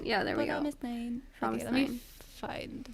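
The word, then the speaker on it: fromis_9: The Korean is different than... Yeah, well, it's because they don't have the letter F in Korean, so. I know. I guess. Promisnain. Yeah, there we go. Promisnine.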